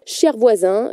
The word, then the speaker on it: ShareVoisins: Cher Voisin, cher qui s'écrit S-H-A-R-E, partagé en anglais.